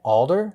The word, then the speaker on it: Alder: We should definitely convince you that that's the correct Adler. pronunciation. All right, But it's Adler it spelled is. Alder. Is it Alder?